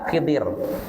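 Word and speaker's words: Khidr: Jadi bacanya bisa khadir, bisa khidir. Kalau orang Indonesia banyaknya nyebut Khidir. Iya. Iya. Tidak betul enggak? Kalau di buku pelajaran apa kita? Khidir ya. Tapi yang yang lebih fasif khadir bukan khidir ya.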